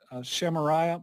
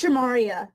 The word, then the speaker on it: Shimaria: your first name uh shamaria from wpsd local sex and if i did please correct me it's okay uh it's shimaria yeah uh okay yeah